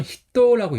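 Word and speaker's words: 人: 그 다음에 훈독 같은 경우는 히또라고 읽어요.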